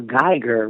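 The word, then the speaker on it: Guyger: Hey, Nate, I'm following the Amber Geiger, whatever her damn name is, case.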